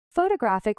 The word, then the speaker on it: photographic: Photographic with stress on graph.